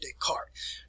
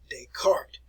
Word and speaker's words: Descartes: the name of renee descartes now this is what you the way you want to pronounce it there descartes descartes all right and he'll contribute